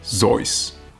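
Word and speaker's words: Seuss: places you will go Dr zoys which is apparently how you pronounce his name reading isn't just a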